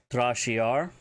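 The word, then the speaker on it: tra'cyar: Talking about the shoot, which is the action shoot, Trashiar, T-R-A Betten, C-Y-A-R, to shoot or fire.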